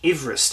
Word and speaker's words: Everest: They named it after George Everest, actually, is how you pronounce it properly, apparently.